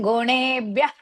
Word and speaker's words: गुणेभ्यः: नान्यं गुणेभ्यः कर्तारं नान्यं गुणेभ्यः कर्तारं That ha should be heard. Nanyang gunebhyah kartaram.